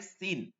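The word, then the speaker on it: س: এরকম করে আসে না ঠিক এভাবে সিন করতে হবে সিন সিন সিন সিন সিন সিন সিন সিন বিসমিল্লাহ বিস বিসমিল্লাহ বিস কি হচ্ছে বিস এই যে বিষ না বিষ না সিন হবে নিচের দাঁতে সিন বিস সিন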